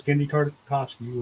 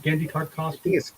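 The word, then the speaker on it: Genndy Tartakovsky: That was Gendy Tartakovsky was Samurai Jack.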